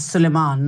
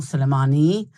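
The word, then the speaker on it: Soleimani: Um, it's Sulman, not Sulmani.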